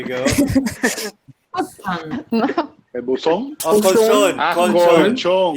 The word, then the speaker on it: colchón: Colchon. Colchón. Yeah, I missed the L. Sorry, so colchon, not cochon.